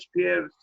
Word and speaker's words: Speer: because I only know Speer, that's the reason.